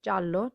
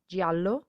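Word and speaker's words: giallo: and please remember that it's ja and not jia so we say jallo not jialo so we say giorno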